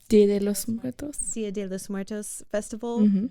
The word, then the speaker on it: Dia de los Muertos: There are so many people bringing amazing culture to this town, and it's from the how do you pronounce it? Dia de los Muertos.